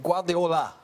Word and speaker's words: Guardiola: I'm trying to say his name right, but Guardiola.